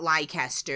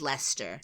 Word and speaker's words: Leicester: you had been told oh no it's not Lecter it's Lester and then you saw